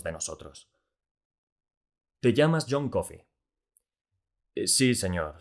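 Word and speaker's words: Coffey: nosotros se llama xiong coffee sí señor suena parecido a café pero no se escribe igual así que sabes leer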